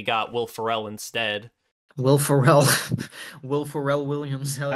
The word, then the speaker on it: Ferrell: How do you pronounce it? Farrell? Yes, Will Ferrell. Ferrell. Will Ferrell? You pronounce it like Pharrell. Like Pharrell, like Pharrell Williams.